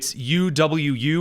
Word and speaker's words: OwO: Number 2, notices bulge, and then it's UWU or is it OWO? OWO. What's this? The OWO is pronounced uwu.